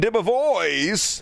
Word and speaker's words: DeBevoise: Me and my date, Sergeant Sean DeBevoise. That's how you pronounce that.